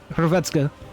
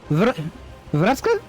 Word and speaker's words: Hrvatska: Do you pronounce the H in that, or is it just Hrvatska? Hrvatska. Hey, thank you! I'll take it. I was gonna say, this is super stupid, but I had to practice and get together. Don't pronounce it. So... Vratska? Vratska. Oh, you do pronounce the H, okay.